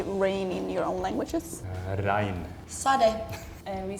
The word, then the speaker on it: regn: but then in Norwegian it's pronounced rein, and then in a more Swedish accent you would pronounce a G, so then it's more like regn.